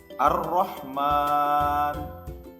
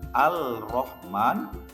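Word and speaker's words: الرحمن: ke dalam huruf ro yang pada awalnya Al Rohman dibaca menjadi ar-rahman berikutnya Sin termasuk huruf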